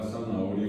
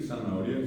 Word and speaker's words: zanahoria: Pero nadie escucha la H, pero la regla me dice que tengo que poner la H.